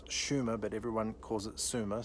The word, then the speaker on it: Sumer: no prehistory to it we call it incorrectly suma today correctly it's schumer but everyone calls it